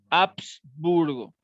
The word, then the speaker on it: Habsburgo: Un poco, la pronunciación es con H, ¿verdad? Habsburgo.